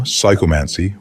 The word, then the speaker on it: psychomancy: lesson one the nature of psychomancy the term psychomancy pronounced psychomancy is derived from two Greek words the